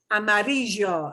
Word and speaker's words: amarillo: okay so you know somebody from uh buenos aires would pronounce that color yellow as amarillo amarillo don't don't give it that one you know unless you know you're traveling to argentina so amarillo amarillo those are okay but not a marijuana